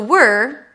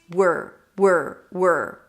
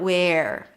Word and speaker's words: were: By the way, to pronounce it, you start with a W. Make sure that there is no vowel in between and you pull the tongue in for the R. Were. Not where.